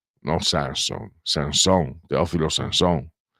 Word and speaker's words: Sanson: della lingua Veneta è Sanson no Sanson Sanson Teofilo Sanson Pellegrin non Pellegrin Perin non Perin perché a sud tendono ad anticipare l'accento e noi invece siamo più sdruccioli al al nord e pensate che lui